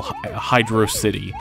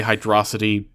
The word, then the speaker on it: Hydro City: museum for Sonic Generations this zone is spelled with a space in the middle Hydro City so that's how I'm going to be pronouncing it if I accidentally say hydrosity forgive me for that anyways we're over halfway